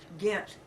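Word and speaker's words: Ghent: One syllable, right? Gent. G H E N T.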